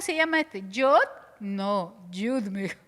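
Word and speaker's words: י: Y Yod es el más pequeñito como una coma, pero se pronuncia Yud.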